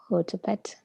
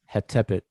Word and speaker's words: Hetepet: What's the conventional way to pronounce this? Hotepet. Tepet. Yep. Hetepet.